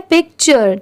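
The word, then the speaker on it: picture: यू आर ई चर इसे हम टूरे नहीं पढ़ेंगे यहां पर टी की साउंड ट की नहीं आ रही है। इसे हम क्या पढ़ रहे हैं? पिक्चर।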